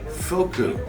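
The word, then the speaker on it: Fuku: of the linebackers and the last name was f-u-k-u so i always checked with the visiting team to make sure and i said i'm checking some pronunciations and the guy looked at me and he goes foku and i said okay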